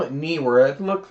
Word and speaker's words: Neewer: Yeah, Neewer does make, I call it Neewer. It looks like that's how you pronounce it.